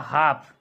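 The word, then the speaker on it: half: ये है आपका हाफ इसमें एल का उच्चारण नहीं हो रहा है तो ये आपका एल जो है साइलेंट वर्ड है।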